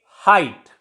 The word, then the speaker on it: height: In the same way, height. Here you say that before T, GH before T is silent.